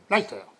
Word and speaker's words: Leicester: Ouais, ça s'écrit Leicester, mais Leicester.